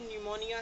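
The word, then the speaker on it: pneumonia: ऐसे ही न्यूमोनिया है या न्यूमेटिक है, तो न्यूमोनिया भी PN से स्टार्ट होता है, न्यूमेटिक भी PN से स्टार्ट होता है, लेकिन P साइलेंट है बिकॉज कम्बिनेशन क्या है, PN, राइट।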